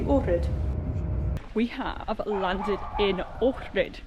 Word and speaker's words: Ohrid: We have landed in Ohrid, it's apparently how you pronounce it.